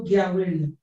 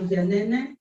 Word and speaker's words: Giaweri: You cannot call him Edo Gianene or Edo Giawere. Edo Giawere is Edo Giaweri.